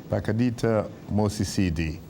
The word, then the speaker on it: Pakalitha Mosisili: You pronounced it very well. Pakalitha Mosisili.